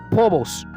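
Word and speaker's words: φόβος: palabras para temor es pobos como si fuera una H entre la p y la o pobos ahí quiere decir miedo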